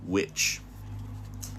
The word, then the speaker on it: Which: So now we're going to read chapter three Miss Witch. So, this isn't spelled like a witch that does a cauldron, but this is the word witch.